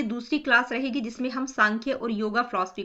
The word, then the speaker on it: सांख्य: हुआ है ठीक है इसको हम प्रोनाउंस सांख्य ही करेंगे कई जगह आपको एस